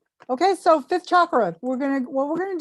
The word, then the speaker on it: chakra: to remind you uh chakra or choker that's how they say it in sanskrit excuse me uh means